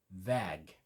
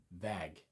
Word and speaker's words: Väg: The way I learned it was EH, the sound in English, as a pause. Similar, but a little bit different. Put that into a word. Väg. V-A-G. Väg.